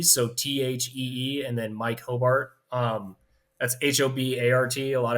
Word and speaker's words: Hobart: t-h-e-e and then Mike Hobart um that's h-o-b-a-r-t a lot of people try to put an e in there for whatever reason it's phonetically pronounced exactly how it's spelled um you can find